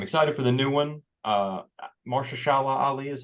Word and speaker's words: Mahershala Ali: Mahershala Ali is how you say his name. Mahershala Ali.